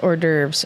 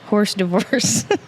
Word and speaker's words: hors d'oeuvres: Knows hors d'oeuvres is pronounced hors d'oeuvres. Also me. Horse divorce.